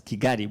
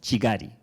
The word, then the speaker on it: Kigali: We pronounce it, Honorable Minister, we pronounce it as Kigali, but I understand it should be pronounced as Chigari.